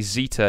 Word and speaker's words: zeta: but yeah apparently apparently zeta is pronounced like the sd in wisdom how often does that